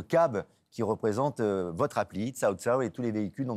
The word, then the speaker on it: Cao Cao: Vous êtes la vice-présidente de Cao Cao, ça se prononce comme ça.